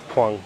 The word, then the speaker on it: Huang: Is that how you pronounce his name? Huang. Yep. Huang? Huang? Like Guantanamera.